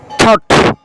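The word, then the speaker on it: thought: এরপরে ব্রট এনেছিল, কট ধরেছিল, বট কিনেছিল, টক শিখেছিল, থট চিন্তা। এই সমস্ত ওয়ার্ডের মাঝে জিএইচ এর উচ্চারণ হয় না।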